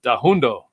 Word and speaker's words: Danhoundo: Dona Danhoundo, did I say it right?